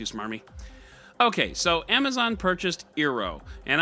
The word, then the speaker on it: Eero: okay so Amazon purchased ero and I'm pronouncing the ero because if you want to spell your name that way that's how I'm gonna say Hiro is a San